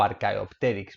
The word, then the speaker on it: Archaeopteryx: transicional que se llama archaeopteryx vale o archaeopterix porque la ch se pronuncia como k como nota curiosa hay